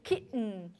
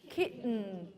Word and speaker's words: kitten: you're saying it right okay so try to kitten kitten kitten something's happening here but not in your oral